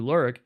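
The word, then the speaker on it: Lerwick: That's pronounced Lurik. I checked with our Fozzy this morning to be sure.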